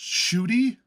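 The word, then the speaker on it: Ncuti: So believe it or not, this is pronounced Shooty and Shooty Gatwa.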